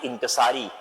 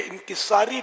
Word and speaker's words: انکسار: پہلے تو وہ تلفظ کے لیے انکساری لفظ جو ہے نا یہ اہل لغت کے نزدیک غلط ہے. انکسار جیسے عجز و انکسار, تواضع, عاجزی, یہ درست.